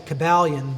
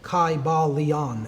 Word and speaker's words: Kybalion: the ancient Greek language, in which there was no short Y sounds. It would have been a long I sound, Kybalion, and every syllable would have been pronounced.